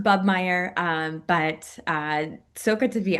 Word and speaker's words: Bobenmoyer: But yeah, so it's pronounced Bubmeyer, but so good to be on here.